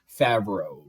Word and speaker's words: Favreau: So Jon Favreau, he can, like, if you say it like favor and row, like if you say the first part of fave, like favorite, favor, and then row, ROW, Favreau.